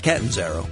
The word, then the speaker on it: Catanzaro: It's Catanzaro. Catanzaro, yeah. okay. And it's a hard name to pronounce, and that's why everybody calls me Dr.